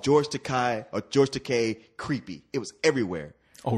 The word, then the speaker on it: Takei: It's Takei. Look, rhymes with toupee.